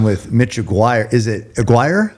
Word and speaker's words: Aguiar: Is it Aguiar? Aguiar.